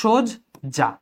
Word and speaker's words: সজ্জা: সজ্জা, এটাকে আমি ও দিয়ে উচ্চারণ করেছি, এই জন্য সোজ যা, সোজ যা। ঠিক আছে, সোজ যা।